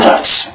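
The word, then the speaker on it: Weiss: Michael Vance. That's how you pronounce it, because in Germanic language, W is pronounced as V, like Volkswagen.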